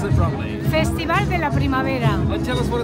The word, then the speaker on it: Festival de la Primavera: How do I pronounce it properly? Festival de la Primavera.